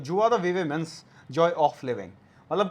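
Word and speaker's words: joie de vivre: चलो next word, that is जुआ द वीवा।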